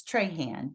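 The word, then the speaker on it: Trahan: the English way it's tryan t r a h n but when you say it in French it's TR and we that name is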